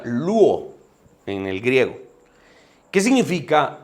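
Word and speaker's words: λύω: La palabra griega que Marcos utiliza aquí para traducir al español como rescate es e de un verbo que se pronuncia luo en el griego.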